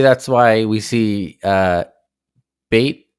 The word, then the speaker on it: B8: why we see uh bait that's how you pronounce B8 right but they're bait bait